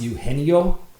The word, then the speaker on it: Eugenio: by your mistake um it's Eugenio Suarez okay Eugenio I've also heard it pronounced yeno I guess I'm not quite sure which one is proper uh but I've always gone by Eugenio uh Eugenio Suarez he